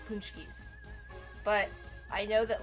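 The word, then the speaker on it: pączki: It's pronounced something like Paczkis. Kind of.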